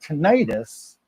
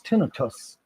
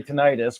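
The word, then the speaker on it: tinnitus: And so it's not tonitis, it is tinus. And now you know Uh well, he was the doctor did say basically like nobody's going to tell you you're saying it wrong if you say titis because we all know what you're saying and we all know what you're talking about.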